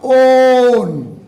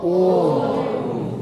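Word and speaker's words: -one: इसको बोलने का बेटा ओन। वैसे आपके हिसाब से 1 है, अरे 1 की स्पेलिंग है ना, लेकिन पढ़ना क्या है बाबा? ओन, प्रोनाउंसिएशन ओन होना इसका।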